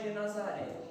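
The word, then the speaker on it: Genesaré: Perdão, eu pronunciei errado. Acredito que a mensagem toda eu pronunciei errado, Genazaré. A forma certa então é Genazaré.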